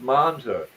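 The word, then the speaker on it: Monza: remember how they pronounce it they made it pronounced manza yes they they stuffed v8s in them damn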